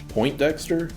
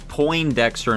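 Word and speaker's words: Poindexter: I feel like I've always heard as Po Dexter, not Point Dexter. I've always heard it pronounced that way, but I I I kind of assume that was like a pronunciation thing. It doesn't have a T.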